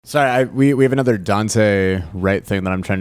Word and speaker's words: Daunte: Daunte. It's Daunte. Oh, I thought it was Dante.